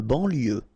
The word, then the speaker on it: banlieue: De banlieue. Okay, final E not pronounced, so IEU, IE, L, lieu, banlieue.